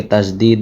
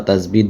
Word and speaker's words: তাশদীদ: মুখস্ত করে রাখতে হবে অনেকে তাশদিদ বা তাসবিদ বলে এটার সঠিক উচ্চারণ হলো তাশদিদ তাশদিদ ঠিক আছে তো